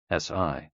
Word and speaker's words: Si: SI, pronounced like sir, with a slow exhale, which is associated with the lungs.